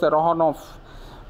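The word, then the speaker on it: Saranoff: से उनको लेकर आइए ही pronounce the name with the stress of the second syllabus सरनऑफ वो उसको सरनऑफ की तरह प्रोनाउंस करता है निकोल यस यस मेजर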